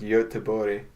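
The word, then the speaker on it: Göteborg: is like the often burg in Sweden is pronounced Yoda bode well yeah like they pronounce it differently there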